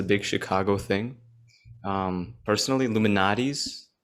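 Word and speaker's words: Lou Malnati's: pizza is a big chicago thing um personally illuminati's it's lumo nadis if you want to pronounce it whatever um that's a big popular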